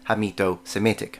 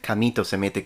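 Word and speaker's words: Hamito-Semitic: also use the term hito Semitic although I think I did mispronounce it on that video and I said kamito Semitic with a c that is because that's how we say it in Italian by the way with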